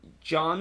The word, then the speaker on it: Jans: that they have hired Ron John or Ron young depending on how how you pronounce his last name as their next